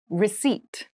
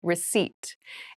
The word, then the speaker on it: receipt: meal room service meal receipt receipt receip receipt has a very interesting spelling there is a p in the spelling of this word but we do not pronounce it the pronunciation is receipt a receipt is a